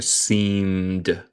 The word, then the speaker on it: seemed: Pero la forma regular sería agregar ed, pero no pronunciamos el e usualmente. Eso sería seemed. Como no hay e.